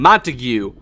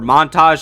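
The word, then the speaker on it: Montague: organization the first being montigue or Montage depending how you want to pronounce it but he is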